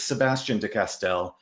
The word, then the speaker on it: Sebastien de Castell: Um but it's Sebastian Dcastell. Um but you're more than welcome to use the French pronunciation. And Sebastian is fine, too.